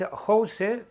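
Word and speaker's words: José: It's in Spanish it's said the J is pronounced more or less like an H. So if you want to pronounce my name in speaking in English, you can put an H, H-O-S-E, Jose. It would sound more or less like that.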